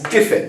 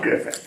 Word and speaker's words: Giffin: But so it's Giffin, not Griffin, right? Yes, you said it correctly.